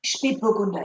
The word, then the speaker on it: Spätburgunder: Spätburgunder, yes. Spätburgunder. What is that umlaut, those two little dots? How do we handle pronunciation when we see that?